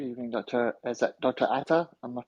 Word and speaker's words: Ata: Ata? Am I pronouncing that correctly?